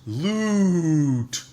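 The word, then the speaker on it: LUUUTT: but you'll not forget it because you just pronounce it as loot loot and it's very strange but each letter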